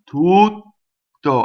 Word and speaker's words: tutto: How I do the double T? I do the vowel long, I stop phonation, I go up to the T, I don't say it, and then I say it, right? So I say the vowel tu, go up to the T, don't say it, to, tutto. I don't say two T's, I don't do tutto, not two T's.